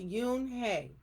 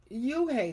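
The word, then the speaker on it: Unhei: no yoon hey corrected it's spelled u n h e i it's pronounced yoon hey oh it's you hey the boy said like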